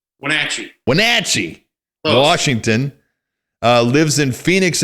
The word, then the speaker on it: Wenatchee: born in i hope i say it right wenitchie wenatchee wenatchee washington lives in phoenix arizona he's got